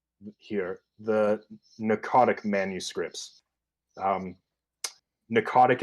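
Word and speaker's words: Pnakotic: the narcotic manuscripts um narcotic is spelled p-n-a-k-o-t-i-c there's a silent p at the beginning did not expect that p-n what p-n-a-k-o-t-i-c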